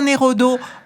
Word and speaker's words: Neraudeau: remarque voilà donc et comme ça se prononce donc nerodo en un seul motf exactement et vous avez